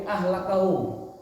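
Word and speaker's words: أهلكَهم: dalam riwayat lain dibacanya bukan akhlakahum bukan aklakum tapi aklakahum pakai pakai apa Pakai fathah ini kan akhlakuhum dia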